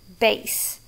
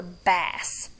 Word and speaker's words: bass: one at church sometimes so if we're talking about the thing that you play we say bass but if it's a fish that we caught we're going to call it a bass so depending on which